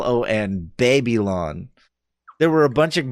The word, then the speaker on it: Babylon: see that booth for baby lon baby are you mispronouncing Babylon or is that like no it's b eb yl o n it's baby lon it is a arena